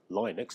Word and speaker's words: Linux: So as I indicated in the introduction, Android, iOS, Windows, macOS and Linux, or Linux depending on how you want to pronounce it, are all examples of operating systems.